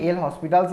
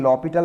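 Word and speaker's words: L'Hôpital: অনেকে এল হসপিটালস বলে, অনেকে লপিটাল বলে, যার যেটা ইচ্ছা সে সেটা বলতে পারে।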